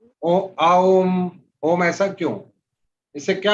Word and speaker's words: ओम: अभी मैं ये आपको हिंट दिया कि ओम का उच्चारण जब करते हैं तो अ, यहां से एनर्जी चालू हुई, हमने अपलिफ्ट किया, ओ पे पहुंचे तो यहां तक अपलिफ्ट किया, म किया तो और ऊपर तक किया।